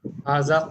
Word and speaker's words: هذا: Haza qalamu.